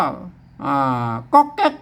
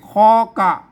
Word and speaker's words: ก๊อกแก๊ก: อื้อ ได้ อะไร มา ต้อง อ่าน ตาม หลัก ภาษา ล้านนา แล้ว ก็ มา อ่าน ว่า ก๊อก แก๊ก นะ ครับ ไม่ ใช่ คอ กะ อ่า ไม่ ใช่ คอกะ